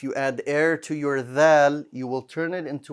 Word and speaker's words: ذ: that so like that the tip of your tongue will extend to the bottom of the front two teeth there you will say